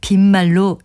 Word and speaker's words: 빈말: 형용사 비다에서 나온 것이기 때문에 빈말이라고 길게 발음하죠. 보통 빈말이라도 고마워 또는 제 말을 빈말로 여기지 마세요.